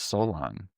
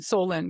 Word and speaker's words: Solon: call him Solon because I want it to rhyme with colon with a Okay, statement like this is that.